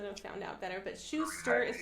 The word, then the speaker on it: Schauster: But Schauster is how we pronounce Heidi's last name.